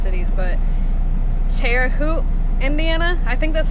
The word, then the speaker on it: Terre Haute: but I think it's pretty funny when I mispronounced cities but Terre Haute Indiana I think that's how you say it